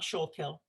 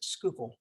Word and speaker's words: Schuylkill: from this area on how you pronounce schuylkill uh it is not shulkhill it is schuylkill so here you you